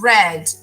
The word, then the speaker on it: read: mate make read actually here it's red the pronunciation changes in the past read in the present or infinitive read a read read a